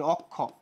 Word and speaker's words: অক্ষ: যে অর পরে যদি ক্ষীয় থাকে তাহলে উচ্চারণটা ওর মতো হয়ে যাবে। নিয়ম শেষ, সহজ কথা। কিভাবে ভাইয়া? এই যে দেখো একটা লিখি, অক্ষ, একটা শব্দ লিখলাম কি আমি?